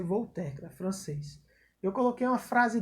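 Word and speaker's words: Voltaire: terra a escrita de voltar era mas se pronuncia vou tecla francês eu coloquei uma frase dele aí uma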